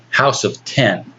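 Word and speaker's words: House of X: I've heard that actually pronounced House of 10. And of Okay. course, X is the Yeah. Roman numeral for 10.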